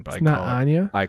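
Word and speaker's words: Anje: like shave asure mean like southern German pronunciation like on G oh but I'm gonna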